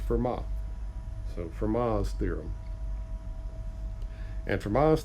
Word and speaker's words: Fermat: This is pronounced Fermat.